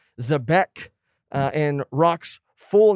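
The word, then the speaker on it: Xebec: mark yulip who says the name of blackbeard's ship is sabre of uh and some people corrected our pronunciation zebek and rock's full name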